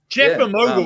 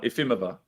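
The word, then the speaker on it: Jefimova: Like Ifimova. Is that how you say it? Yeah. Or is the J silent? Is that a silent J? Yeah, silent. Jalapeno. Silent.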